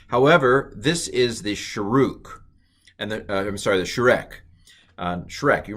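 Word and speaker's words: שׁוּרֶק: So this is a long u pronounced u, the Sharuk. Okay, and I realize that looks like it's Shrek, but some of these vowels are pronounced differently by different people. I'm going to pronounce this as Sharuk.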